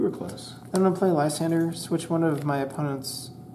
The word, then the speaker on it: Lysander: discard Pile in my hand I'll get back Leandra I don't know how to pronounce his name Leander okay you were close then to play Lysander switch one of my opponent's uh bench Pokemon